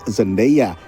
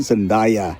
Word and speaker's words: Zendaya: Nama-nama lain yang sering membingungkan diantaranya aktris Zendaya yang sering disalah-lafalkan menjadi Zendaya, lalu Barry Keoghan yang sering dilafalkan tanpa huruf G.